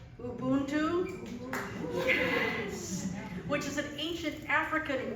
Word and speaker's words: Ubuntu: s sing this song called I'm going to pronounce it right Ubuntu which is an ancient African word which in